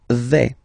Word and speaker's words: vais: The first form is je vais. Okay, so remember, final S not pronounced here.